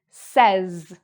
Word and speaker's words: says: So, this "s" actually sounds like a "z" sound; a "z" sound: "says", "says". It kind of reminds me of the pronunciation — I don't know if you know about the candy — we call it "Pez", where you have, like, an animal or something, and you lift the head up, and a little piece of candy pops out. "Pez". The vowel sounds similar: "says".